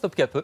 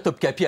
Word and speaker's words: Topkapı: Prononce Topkapı. Mais on peut dire Topkapi à la française, devient le nouveau sultan de l'Empire ottoman.